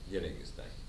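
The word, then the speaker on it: Dialegesthai: È scritto Dialeghe stai, però si legge alla greca, Dialeghe stai.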